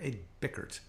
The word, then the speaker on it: Ed Bickert: Ed Bickert is his name.